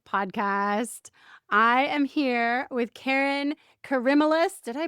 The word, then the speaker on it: Kerryn Karimalis: I am here with Kerryn Karimalis. Did I pronounce that one right?